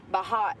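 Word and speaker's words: Bhat: B A T Bot. It's pronounced bot. It's B H A T.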